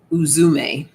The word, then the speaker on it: Uzume: We have, I believe I'll find out the pronunciation in a second. Uzume, laughter. Laughter. Uzume.